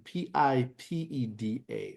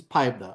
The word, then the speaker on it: PIPEDA: I'm gonna call this PIPEDA. All right. So if I'm saying it wrong, guys, don't judge me. PIPE, that's pipe DA, that's that. I'm gonna call it PIPEDA.